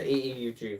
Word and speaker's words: AEUG: I've heard people pronounce this egg version. AUG version. It's the AEUG version.